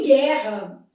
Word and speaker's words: guerra: Em guerra, esse U não é pronunciado.